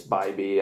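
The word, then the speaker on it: Bibee: the intro but uh I said Phoebe but it's by B I figured it out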